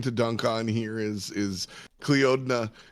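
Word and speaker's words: Clíodhna: The biggest thing, the fun thing to dunk on here is Cleodna. That's so she is Celtic, and so she will pronounce her name Kleena.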